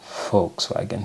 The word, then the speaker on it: Volkswagen: I know it's Witz because VW, Volkswagen, not Volkswagen. Volkswagen. So no, the W. Wait. Is the W pronounced as V?